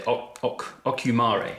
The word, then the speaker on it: Ocumare: But what was really nice was its pairing with this chocolate, this Venezuelan, I can't even pronounce it. What would you say? Ocumare.